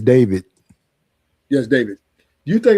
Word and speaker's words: D4VD: Even though his name is spelled D4VD, is David.